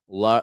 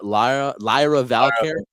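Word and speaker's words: Lyra Valkyria: Lra Lyra Valkyia. Exactly. It's a hard name to pronounce.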